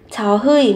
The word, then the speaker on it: 저희: 저희 một từ xưng hô khiêm tốn của 우리. Tuy nhiên thì khi phát âm gọi phát âm là 저희. Phát âm 의 thành y nhá.